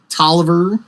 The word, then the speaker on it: Taliaferro: Tolliver, it's spelled and looks like Taliaferro. Yes, it does. Another division commander. It's apparently pronounced Tolliver, according to people in the park.